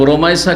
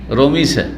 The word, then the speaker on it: রোমাইসা: আমাদের দেশের লোকেরা নামগুলো অনেক বিকৃত করে। অনেক নামকেই কি করে? শুদ্ধভাবে উচ্চারণ করে না। যেমন রোকাইয়াকে রোকেইয়া রোকিয়া করে। কি করে ওরকম রোমাইসা কে রমিসা তাই না বিকৃত নাম রোমাইসা এই নামটি এসছে